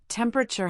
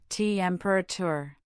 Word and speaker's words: temperature: Also, temperature has three syllables. Temperature.